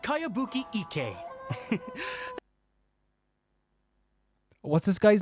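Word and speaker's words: Kayabuki Ikkei: By Kawabunga Iki. Kawabunga. Yoimiya, this is a really strange name. Who's this Kawabunga? It's pronounced Kayabuki Ike.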